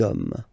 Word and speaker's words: hommes: homme, and after that you just put the s at the end. You don't pronounce it, so you get des hommes, okay?